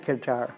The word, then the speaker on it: Qatar: the world I think who pronounces it qar you could do it either way but everybody all the news people are talking about cutter cutter um so anyway uh